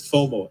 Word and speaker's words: FOMO: So it's just pronounced it as FOMO, FOMO. So people don't think we're saying something else.